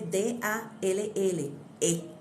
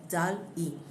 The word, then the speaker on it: DALL-E: Entonces cuando yo voy a la inteligencia artificial, en este caso, ustedes pueden utilizar una herramienta que se llama DALL-E, se escribe D-A-L-L-E, DALL-E.